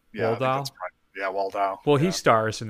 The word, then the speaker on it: Waldau: Waldar? Yeah, Waldau? Yeah, Waldau.